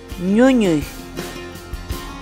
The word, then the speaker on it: ñuñuy: You are now in watching English, Word of the Day, Quechua, a series of videos ñuñuy where we teach you how to pronounce certain words in Quechua.